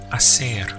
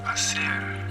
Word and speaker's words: hacer: The verb to do is hacer. Hacer. You can see in the spelling we have an H, but in Spanish pronunciation the H is always silent, it's ignored.